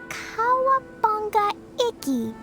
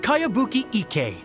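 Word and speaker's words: Kayabuki Ikkei: of it by cowabunga icky this is a really strange name who's this cowabunga it's pronounced kaiabuki ek that would be me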